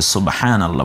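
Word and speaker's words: سبحان الله: বকে মনে হয় জবর দিয়ে ফেলেছে না, এটাকে সকে পেশ দাও সু আর শুধু ব, সুব।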